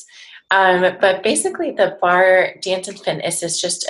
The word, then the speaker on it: barre: that's great so it's it's bar it's not bar a completely butchered that right that's okay i i hear it a lot so if you're a non-dancer it probably looks like bahrain so bar dance and